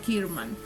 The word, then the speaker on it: Kerman: la conocíamos se llamaba Gil Kerman pronunciado kirman estudiaba arte Y usaba